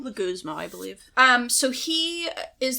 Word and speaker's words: Leguizamo: Can I see how it's spelled? It's Legui Leguizamo? Leguizamo, I believe.